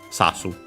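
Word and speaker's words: 刺す: Accent on the first more, sasu.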